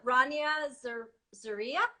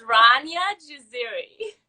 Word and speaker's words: Rania Jaziri: stuff so it's uh rania zaria almost you got the first name right which is like everybody just like butcher is my first name it's ranya jaziri okay oh so much